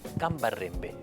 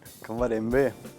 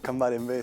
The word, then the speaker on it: Cambarembé: ¿Dónde es Cambarrembe? Cambarembé. Así se pronuncia. Cambarembé, sí, es oreja de negro en guaraní.